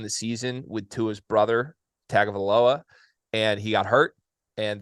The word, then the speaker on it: Tagovailoa: Look, Maryland was a very good football team early in the season with Tua's brother, Tagovailoa, and he got hurt. And they were horrible for 3 weeks.